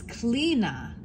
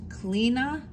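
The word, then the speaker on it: Chlíodhna: It's Clina, but it's spelled C-H-L-I with the little slash O-D-H-N-A, and it's pronounced Clina.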